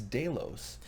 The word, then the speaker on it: Delos: backstage staging area here in Delos or though somebody said its day lows I don't know yet I would say right now I suck at pronunciations me and English French any other language whatsoever so if you say it's day lows and I say Delos I side with the us day lows i acquiesce to whatever you say